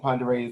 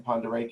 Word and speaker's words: Pend Oreille: You see Stevens County, Pend Oreille County, and Pend Oreille is a Native American word. So when you look at it, it doesn't pronounce the way it reads.